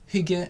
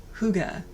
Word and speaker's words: Hygge: ourselves a cup of tea and talk about Hygge and Mys.